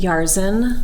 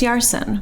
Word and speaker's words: Yarsin: Um, I really hate Yarsen. Yarszen. Yarsen is my least favorite, which and it's very similar to how you would pronounce it. Well, it's Yarsson with an S.